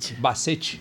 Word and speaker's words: Bassetti: bem-vindo acertei seu sobrenome é bazet que se pronuncia Bacete is seja muito bem-vindo